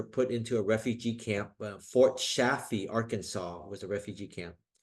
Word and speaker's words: Fort Chaffee: Fort Safi is Vietnamese broken pronunciation of Fort Chaffee, Arkansas.